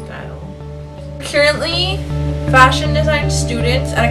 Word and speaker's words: Stael: And style means style. C-A-E-L, and it's a Ghanaian language called Tri, but it's still pronounced style.